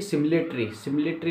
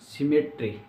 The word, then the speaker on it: symmetry: कुछ लोग कहते हैं कि सिमिलेटरी नहीं, सिमेट्री। ठीक है, स्पेलिंग में लिख देता हूँ यहाँ पे, सिमेट्री। ठीक है, नॉट सिमिलेटरी नहीं, सिमेट्री फैक्टर।